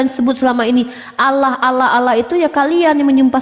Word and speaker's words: Allah: Tetapi Allah ditafkhim, tebal dia. Ada makharijul huruf.